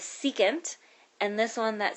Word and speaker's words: secant: stands for cosecant and this one right here that's SEC you say that out loud is secant and this one that